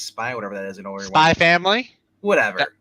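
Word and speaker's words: SPY×FAMILY: That's No, look That's- at next time you're watching Spy X Spy, whatever that is, Spy Family. whatever. The X is silent. It's just a Spy Family.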